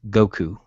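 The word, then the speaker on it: gokyu: Well, my next belt that hopefully I'm going to attain on Saturday is fifth ku, which in Japanese is pronounced Goku.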